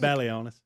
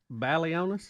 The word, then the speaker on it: Balionis: That is Balionis. Balionis.